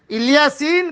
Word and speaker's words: الیاسین: دیوی کا نام تھا۔ الیاسین کہا گیا الیاس علیہ السلام ہی کا ایک تلفظ ہے، جیسے طور سینا کو